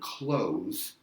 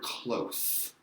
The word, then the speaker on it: close: same word we have an English the word closed said odd and then we have the word closed so notice the pronunciation different there Sarah I pronounced that final